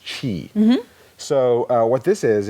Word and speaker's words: Qi: see this is a Qi is the the name of it apparently that's pronounced Chi so uh what this